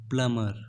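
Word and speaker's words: plumber: प्लमर ए प्लंबर कि इस word में भी साइलेंट है तो आपको भी नहीं बोलना है आपको सिर्फ बोलना है प्लमर यह हिंदी मीनिंग नल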